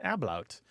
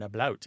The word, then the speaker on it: ablaut: The second kind is where there's something called an ablaut. Or an ablaut, A-B-L-A-U-T.